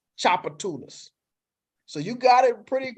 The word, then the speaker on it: Tchoupitoulas: for something no so the t is silent the t is solid and that the word is pronounced Chopper Tunas so you got it